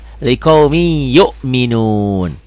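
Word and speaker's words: لِقَوْمٍ يُؤْمِنُونَ: Liqaumi yu'minun. Gitu. Sekali lagi, liqaumin yu'minun hukumnya apa? Idgham bigunah. Kenapa? Karena kasroh tain atau tanwin ini ketemu iya. Bacanya gimana? Liqaumin. Bacanya jadi liqaumi ditahan.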